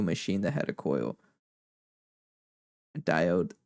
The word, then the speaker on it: diode: And it just became an inside joke because I think someone mispronounced diode and they said doid, and we just stuck with it for the rest of the playthrough.